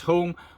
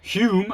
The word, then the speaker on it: Home: Eden was Alec Douglas Home. I think it's pronounced Alice Douglas Hume. I don't know why it's written home, but it's pronounced Hume.